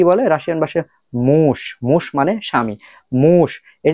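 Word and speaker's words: муж: তো এটার উচ্চারণ হওয়ার দরকার ছিল মুজ। এটার উচ্চারণ হওয়ার দরকার ছিল মুজ, বাট মুজ না হয়ে কেন মুশ হলো?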